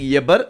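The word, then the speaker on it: עבר: இத தனியா நீங்க உச்சரிக்கும் போது इसको अलग से जब हम बोलते हैं அத எபர் அப்படின்னு சொல்லுவாங்க. उसे यबर ऐसे बोला जाता है।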